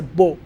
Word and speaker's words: beau: A young man, a swashbuckling young man is a beau. B-E-A-U, but pronounced Beau, almost as if you were writing B-O-W.